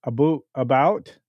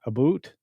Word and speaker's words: about: I pronounce it about, not aboot.